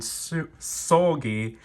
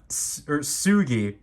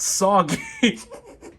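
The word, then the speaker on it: Seulgi: So, this is flatter than I was anticipating it, but here is Red Velvet, Irene, and Sugi, Sugi, not Soggy.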